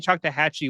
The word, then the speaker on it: Choctawhatchee: Choctahatchee was the correct pronunciation of it, right? That's Yes. right.